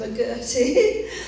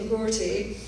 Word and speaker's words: McGourty: Is it McGourty or is it McGourty? So it doesn't matter either way. If you're Scottish, you say it McGourty, but if you're English, you say it or American, you can say McGourty.